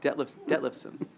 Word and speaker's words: Detlefson: You pronounced it correctly. Detlefson.